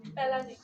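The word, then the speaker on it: Palade: করার দরকার নাই রাইবোজোম আবিষ্কার নামকরণ করেছেন কে প্যালেডে বিজ্ঞানী প্যালডে প্যালেড রাইবো আবিষ্কার করেছো আর মিস বাংলায় তো আরেকটা লেখা অ্যালবার্ট কি ইয়া প্যালেট প্যালেট প্যালেট প্রোনাউন্সিয়েশনে প্যালেড আর বাংলায় লেখা প্যালেট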